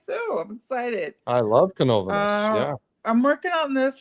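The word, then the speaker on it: Canóvanas: Canovanas. Canovanas. Great. Canovanas. It is nice. I love Okay, I Canova. think it's nice too. I'm excited. I love Canovanas.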